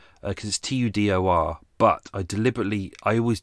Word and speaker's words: Tudor: number one ladies and gentlemen what sport did tudor do professionally if you look at the details you will see that uh uh his name is uh in the uk we would say tudor because t-u-d-o-r but i deliberately i always double-check everything before